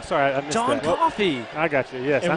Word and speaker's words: Coffey: John Coffey, like the drink. just not spelled.